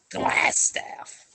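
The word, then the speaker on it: Glasstaff: if you don't mind so g l a s s like glass sounds like an ass and then Taff t-a-f-f its terrible I I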